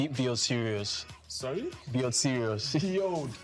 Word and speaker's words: Sirius: of the star the dog star it's called serious so that's why I had so how do you spell that s i r i u s serious